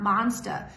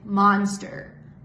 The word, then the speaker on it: monster: The word monster here lost the R sound at the end of the word. This monster has two, which is practically not possible in American English. It's not monster, it's monster. Monster.